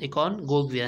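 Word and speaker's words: Aconcagua: तो यहाँ पर आप देख सकते हैं बस एकोनगोविया, तो इसका प्रोनाउंसिएशन एकोनगोविया है।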